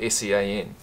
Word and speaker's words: Sean: And like I mentioned before, Sean Fitzpatrick is the reason why I know that Sean, spelt S-E-A-N, is pronounced Sean.